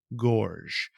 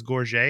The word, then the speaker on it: Gorges: & Watch by Florent Gorges. I thought it was, or actually Gorges. I thought it was Gorget. It's not. It's just Gorges, according to internet pronunciations.